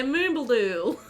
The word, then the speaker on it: Moombaldool: And he was like, yeah, Moombaldool.